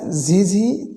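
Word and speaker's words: ظاء: তাহলে এটি আমরা উচ্চারণ করব, হালকা ঝিঝি চিকন আওয়াজ হবে। এটিও জিহ্বার আগা সামনের নিচে 2 দাঁতের পেট ও আগার সঙ্গে লাগিয়ে ঝা, ঝা, 1 লিপ পরিমাণ দীর্ঘ লম্বা করে এটি উচ্চারণ হয়।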